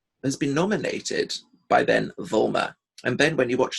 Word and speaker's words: Vollmer: been nominated by Ben Vollmer. And Ben, when you watch this note, I pronounce the V, the L, the M, and the R.